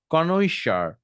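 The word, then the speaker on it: connoisseur: কনৈশার, কনৈশার মানে হচ্ছে এটা একটু এরকম উচ্চারণটা এরকম, কনৈশার।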